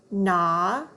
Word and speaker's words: gnaw: So when there's an N after the G, that G is silent. All we hear is the N sound. Let's read them. Gnat, gnaw, gnome.